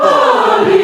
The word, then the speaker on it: parley: Make no parley. Match the bell. It's like parsley without the s, right?